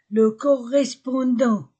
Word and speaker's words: correspondant: l'avion le correspondant le correspondant 1 le ondant je ne prononce pas la lettre T le correspond au N